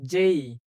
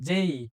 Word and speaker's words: J: এরপরে আমরা জানি এটা ছোটবেলা থেকে পড়ে আসছি যে, কিন্তু এটি যে না, এটির উচ্চারণটা হবে যেই, এবং বর্গীয় জতে একটু চাপ দিতে হবে। যেই।